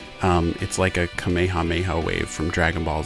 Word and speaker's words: Kamehameha: differently over the years some have pronounced it as Kamehameha or Kamehameha and others have said Kamehameha apparently that is the more correct way to say it I'm sure I'm gonna